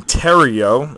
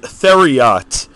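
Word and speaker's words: Theriot: uh Miguel Cabrera for the Marlins insert Ryan Tero it's pronounced Tero for those I watch so many videos where they pronounce it theot Ryan theot but it is Tero insert there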